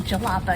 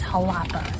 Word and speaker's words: Jalapa: said it to Fred, I said Jalapa, and he was like, no, it's Jalapa. So I pray that I'm saying it correctly now. It's not like jalopy.